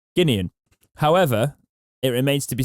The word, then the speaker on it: Guinean: say it wrong however i've said it right guinean however it remains to be seen whether things